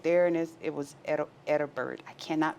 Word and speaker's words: Edinburgh: We're right there, and it was Edinburgh. I cannot pronounce that. Edinburgh.